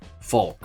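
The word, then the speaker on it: Volk: The V, the German V is pronounced like the English F.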